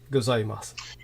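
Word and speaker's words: ございます: um please continue Mr gozaimasu yes yeah so yeah with gozymes 2 the U is sort of like silent just to pronounce the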